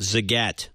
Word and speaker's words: Zagat: I was right zot Nina was right with her own name zat rhymes with cat like the cat Zagat but we're asking where